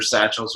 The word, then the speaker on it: sachet: We pretty much have eaten all the official way of pronouncing this is sachet. So, but we just sachets. We say sachets or satchels or something like that.